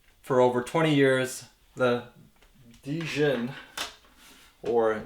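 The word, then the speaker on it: Djinn: over 20 years, the Dijin, or Jin, because the D is silent, right?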